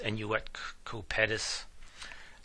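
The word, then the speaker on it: Annuit Coeptis: And you may notice the Latin phrase, I believe it's pronounced enuet cupetus, and that means he has favored our undertakings, referring to God.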